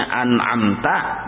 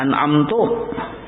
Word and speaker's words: an'amta: Harusnya an'amta dibacanya an'amtu.